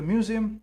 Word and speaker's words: Museum: d Museum perfect so the museum is pronounced a little different and written a different little differently in English it's e m in in German it's u a m m so it's Museum yes museum so we